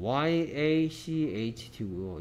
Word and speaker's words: yacht: YACHT고요. 얘 발음이 뭐냐면, yacht야, yacht. yacht. yacht. 우리가 요트, 요트 하죠. 한국식 발음으로.